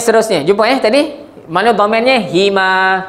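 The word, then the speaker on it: هِمَا: Hima. Kenapa baca hima? Sebab sebelum huruf ha ada huruf ya mati.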